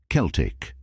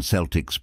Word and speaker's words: Celtic: historical and cultural group it's commonly pronounced with a hard C Sound Celtic however in some contexts such as the Boston Celtics basketball team it's pronounced